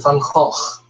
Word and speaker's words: Gogh: this is nature's mother his name is Vincent van cost not Vincent van Gogh it's just that people don't know how to pronounce it incorrectly so they say go so there you go